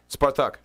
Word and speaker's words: Spartak: So, and then my team, how's it pronounced in Russia? Spartak.